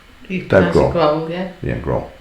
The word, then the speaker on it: Dave Grohl: I think you say you pronounce it that right? Dave Grohl. Grohl, yeah. Yeah, Grohl. Dave Grohl.